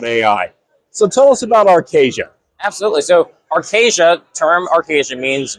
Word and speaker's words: Arcasya: Let me get the pronunciation right. Arcasia, right?